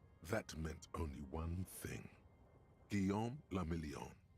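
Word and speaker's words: Guillaume Le Million: meant only one thing guillaume lamillion if it doesn't rhyme you're not pronouncing it right he sang some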